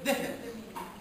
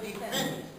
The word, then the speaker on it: defense: If you say defense, the stress is not. He must say defense because the stress on the second.